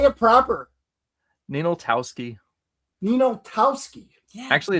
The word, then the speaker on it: Ninaltowski: Ninaltowski.